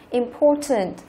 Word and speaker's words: important: Câu thứ hai chúng ta có tính từ important, quan trọng, trọng âm thứ hai, important.